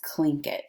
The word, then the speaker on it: Tlingit: That word is pronounced Tlingit. I know that's weird to say that word that way, but that's how they pronounce it.